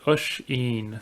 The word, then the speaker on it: Oisín: Guess the easiest way to explain it is Usheen. So it's an Irish name, but it's a bit tricky for those who don't come from.